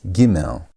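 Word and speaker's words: גימל: That is giml. So again the sound of the letter is gotten from how the name is pronounced giml which is g.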